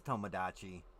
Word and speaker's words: Tomodachi: oh I'm an idiot it is Tomodachi I thought it was like Tamagotchi kind of like the thing right now